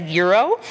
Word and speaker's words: gyro: the lamb shank platter the gyro pronounced as gyro seasoned lamb and beef